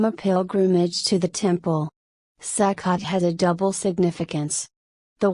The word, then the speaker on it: Sukkot: Sekot or socket in traditional Ashkenazi pronunciations echoes or succos literally feast of booths